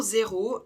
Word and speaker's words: zéro: en détail é pour zéro le Z en français au début d'un mot se prononcera Z un peu comme le bruit d'un moustique le E accent aigu